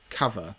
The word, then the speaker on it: Cuvva: from a firm called Cover. Now, when I saw the name, I was thinking, what does that actually say? Because it's spelt CUVVA. And obviously it's the kind of slang way of saying cover.